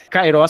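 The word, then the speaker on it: καιρός: Kairos se pronuncia o iota. Se tivesse no kairos o iota no A, no alfa, melhor dizendo, ficaria karos, está entendendo?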